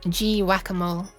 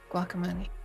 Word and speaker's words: guacamole: guacamole I think that every time I see the word guacamole I always just think of it as G whack-a-mole now I'm like no it's pronounced guacamole thank you for the